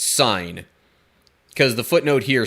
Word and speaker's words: Sin: wilderness of sin or perhaps it should be pronounced sign because the footnote here